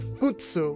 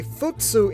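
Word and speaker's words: 普通: In the original Japanese version, Chika is saying futsu, which can mean something along the lines of obvious, average, or normal.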